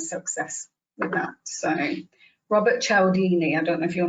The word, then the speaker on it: Cialdini: Robert Cialdini. Is that how you pronounce his name?